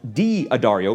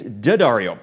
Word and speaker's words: D'Addario: rep at daddario has assured me it's not pronounced d ah Dario despite the apostrophe it's dead REO which might come as a surprise to Beverly